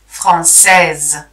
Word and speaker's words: française: Française, we pronounce it because it's no longer the last letter.